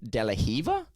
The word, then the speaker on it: De La Riva: a certain movie have that's pronounced delahiver yes but it's spelled like De La Riva De La Riva yeah